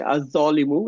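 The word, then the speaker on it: الظالمُ: তো এই জ হচ্ছে এরকম একটা শব্দ যেখানে হচ্ছে লাম হচ্ছে সাইলেন্ট থাকবে, আলিফ যা ধরবে। তাহলে হচ্ছে আজ জলিমু, এটা হচ্ছে শুদ্ধ বলার ক্ষেত্রে।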